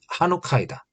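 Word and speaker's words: חנוכה: 봉헌이란 단어의 히브리식 발음은 하누카이다.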